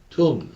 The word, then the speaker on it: tomb: 그를 in his own tomb, 자신의 tomb, 무덤이에요. 이 B가 묵음입니다. 소리 안 나요.